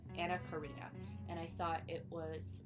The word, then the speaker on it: Anna Karina: I believe her you pronounce Ana Corina, not Ana Corina. Yeah, Anna Karina.